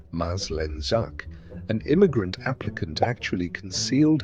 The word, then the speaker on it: Maslenjak: In one real case, pronounced Maslenjak, an immigrant applicant actually concealed her husband's wartime past from officials.